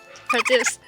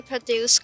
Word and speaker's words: produce: produce or produce so when we emphasize the first half of produce with Pro then we're